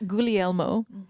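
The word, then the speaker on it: Guglielmo: Gulmo.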